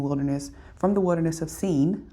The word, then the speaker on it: Sin: So in Exodus 17, the Israelites moved on from the wilderness from the wilderness of seen. Although it looks like sin, it's pronounced seen in Hebrew.